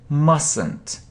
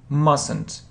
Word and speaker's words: mustn't: Yes, we don't say t, mustn't, mustn't.